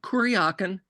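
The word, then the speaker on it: Kuryakin: to me and asked how do you pronounce kaken is it kaken kaken kaken and I was like kurakin he's like okay thanks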